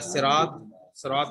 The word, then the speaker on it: صراط: جو ہے صراط المستقیم یا صراط الذین جب ہم کہیں تو ایسا نہیں کہ سین کی طرح اس کو ادا کریں، نہیں، بلکہ اس طریقے سے ادا کریں کہ سواد کا تلفظ نکلے.